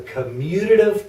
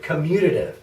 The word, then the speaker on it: commutative: right now is the commutative property of addition that's a huge word commutative commutative four syllables my goodness and basically what